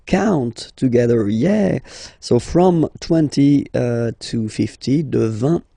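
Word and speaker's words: vingt: And the last one, so this G letter is here, but you don't pronounce it, okay?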